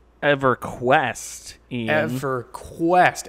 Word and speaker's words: EverQuest: how was that pronounced EverQuest yeah for quest emphasis on the capitalized Q in the middle of the word exactly it's a camel